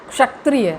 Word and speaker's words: क्षत्रिय: आप उच्चारण करते हैं एक कुछ लोग होते हैं क्षत्रिय बोल देते हैं तो वो छतरियां नहीं होता है वह च से छतरी होता है छ से छाता होता है वो वाला छाया नहीं लगता यहां रखना है क्षत्रिय ऐसे बोलते हो उसको सक्रिय तो उच्चारण